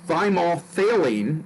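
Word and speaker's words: thymolphthalein: our is yellow and thymol faylene and that's how we pronounce it failing kind of a pH th sound you say the pH super-quick it's mostly the th so it's by more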